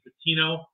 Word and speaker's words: Buttino: I butchered names. No, my last name is, and Mike is Buttino, and then Jason is Flessel.